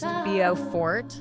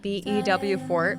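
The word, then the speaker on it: Beaufort: Now, if you've never been, it's pronounced Bio Fort, not BEW Fort, which is in South Carolina. Locals will correct you with a smile. Bowford feels like the kind of place you go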